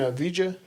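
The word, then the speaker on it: Avdija: Danny Avila. You mean Avija? Avija. Yeah. I always say his name wrong, but Yeah, bro.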